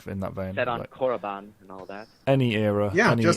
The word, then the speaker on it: Korriban: Set on Korriban and all that. Any era, any theme. Just as long as they refer to Korriban as Korriban and not as Moribond. Moribond. Ugh. So yeah, it's Korriban, damn it.